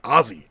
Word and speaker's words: Aussie: Daniel says geek one you gotta say Aussies Ozzy please like double Zed Aussie like it's because Ozzy Osbourne Ozzy Ozzy Aussie so I'm sorry Daniel